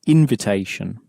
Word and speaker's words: invitation: We're going to try invitation, except we need to know in this case that in, at the front of a French word, is actually pronounced un.